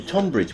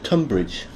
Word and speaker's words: Tonbridge: wow thank you for that splendid intro ok Tom bridge well actually it's tunbridge it is pronounced tunbridge point yes yes yes pronounced tunbridge